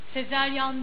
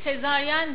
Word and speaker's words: sezaryen: hep yanlış söyleniyor Bu Sezaryan değildir Hani bu çocuk nasıl doğdu sezaryanla doğdu değildir Şimdi bu nereden geliyor şu şekilde aklınızda kalır ilk Sezaryen doğum Sezar Sezar Aslında Roma'da Sezar ilk sezaryen şeklinde doğuyor Sezar bildiğiniz Sezar yen